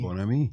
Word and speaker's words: Bonami: Bonami. I said his name right. I've always said it wrong.